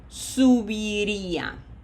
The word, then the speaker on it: subiría: This is not sub, okay? We don't want to speak Spanish in English. Be reminded of the syllables. Subiría.